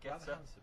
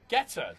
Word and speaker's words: Guetta: I think David, how do I pronounce that? David Guetta. Guetta.